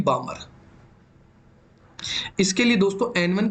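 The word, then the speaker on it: Balmer: ऐसे दोस्तों पाश्चन आ जाएगी, पाश्चन, आप हिंदी में दोस्तों इसको पाश्चन ही कहेंगे, बामर को बामर ही कहेंगे, बस इसमें एल साइलेंट रहता है, और लाइमन को लाइमन ही कहेंगे।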